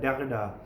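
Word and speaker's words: Derrida: इसकी pronunciation Jack डेरिडा भी मैंने सुनी हुई है, कुछ लोग जॉक डेरिडा कहते हैं, तो वेल इट डिपेंड्स, क्योंकि नामों को जब तक आप प्रॉपर एग्जैक्ट प्रोनाउंसिएशन नहीं सुन देते हैं तब तक आपको आइडिया नहीं होता है। और टैरी ईगल्टन जो है इसको इस तरह प्रोनाउंस करता है डेरिडा डेरिडा।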